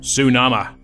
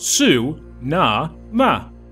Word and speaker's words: Sunama: It's incantation time, Sunama. Pronounced Su-Na-Ma. At least that's my take on it.